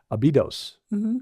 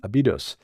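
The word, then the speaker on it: Abydos: the South to abidos actually the syllables on the second uh there's a abidos abidos and that became the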